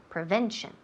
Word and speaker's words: prevention: okay yeah prevention prevention prevention yes the second syllable prevention prevention repeat prevention perfect